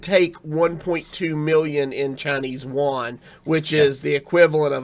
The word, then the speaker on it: yuan: It's pronounced the yuan.